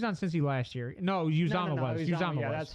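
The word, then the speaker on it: Uzomah: announcers It's say pronounced. Usamoah. No, it's pronounced Uzama.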